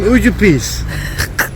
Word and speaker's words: Užupis: go explore some Užupis.